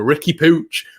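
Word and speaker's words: Riqui Puig: even with spanish commentary it'll be the catalan pronunciation ricky pooch well from now on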